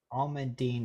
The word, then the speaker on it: almandine: yeah you never know wait a minute almandine is the pronunciation okay almandine oh